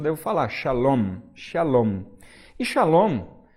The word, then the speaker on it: shalom: tô falando a shalom olha a diferença salon no final tem 1 m aqui no final né então essa esse